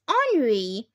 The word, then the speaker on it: Henri: Pronounced Henri, with the accent on the second syllable. It's French for Henry.